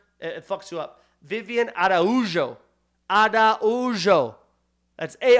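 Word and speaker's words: Araújo: it you up Vivien Ado adao that's a r a ujo but when you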